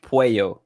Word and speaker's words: Puello: So it's pronounced Puello. So it's like it's a Hispanic last name. So the double L is like a Y.